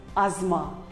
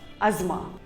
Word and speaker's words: asthma: it is called as asma the t and h is silent asma here is another common